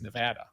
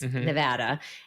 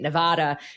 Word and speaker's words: Nevada: like to call it Nevada, even though it's Nevada. So I did it years ago when I was the Money Watch reporter for CBS. I used to work with a station that was in Vegas, Nevada.